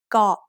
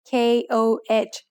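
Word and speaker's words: เกาะ: In Thailand, you'll hear over 90% of tourists pronouncing the word เ ก า ะ incorrectly. เ ก า ะ is usually written in English letters as K-O-H, so many foreigners end up saying ko instead of เ ก า ะ.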